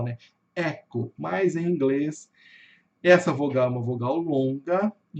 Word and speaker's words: Echo: detalhezinho aqui, que é a palavra echo. echo. Em português nós falamos echo. Echo, o O fechado, o O já termina no O, né? Echo.